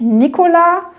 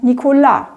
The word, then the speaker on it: Nicolas: in der französischen Sprache da ist ja die Betonung ganz oft am Schluss also sage ich nicht Nikola sondern Nikola oder meine französischen Freundin